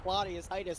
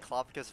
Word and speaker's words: Claudicus: First of all, that's not how you say my name. Second of all, you're being sorry, so Claudicus mean. from Syra. Yeah, I get it right. Claudicus, get it right.